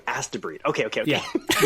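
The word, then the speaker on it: Astebreed: What What I heard was ask to breed. Is that what it It's very close. It's It's spelled A S T E B R E D. Oh, okay. As to breed.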